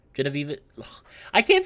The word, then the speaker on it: Genevieve: believe it's pronounced as Jenna Vivi? Genevieve.